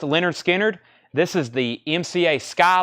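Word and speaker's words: Lynyrd Skynyrd: were all over that one uh Leonard Skynyrd pronounced Leonard Skynyrd this is the MCA Sky label nice copy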